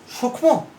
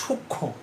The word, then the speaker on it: সূক্ষ্ম: যেমন দেখো প্রিয় শিক্ষার্থীরা, উচ্চারণটা কি? সূক্ষ্ম নয়, উচ্চারণটা হচ্ছে সূক্ষ্ম। তাহলে সূক্ষ্ম সানুনাসিক হয়েছে।